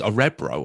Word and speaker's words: Örebro: So how did you pronounce the Swedish club name? Örebro. Örebro. O-R-E-B-R-O. Yeah. I thought it was Örebro or something like that.